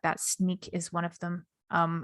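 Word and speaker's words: Snyk: and things like that sneak is one of them um i think you pronounce sneak s and yk um which will check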